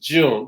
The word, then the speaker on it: Jyun: It's very unusual to spell my name Jyun. That pronounced June, just like May, June, July in the month of June.